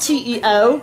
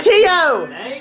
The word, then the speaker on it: Teo: other you said Teo it's to not te EO when it clearly says Teo on his screen but T it's pronounced to are they in the same apartment I'm realizing simil Tio not D no it's Tio okay is he on